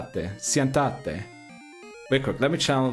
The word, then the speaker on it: siéntate: Remember, the accents go where you must put the emphasis. So I mispronounced it, is what you're saying. Siéntate.